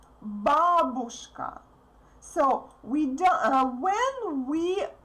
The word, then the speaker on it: бабушка: Therefore, you need to pronounce U as short as possible.